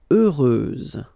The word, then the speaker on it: heureuse: Heureuse, final S, not pronounced.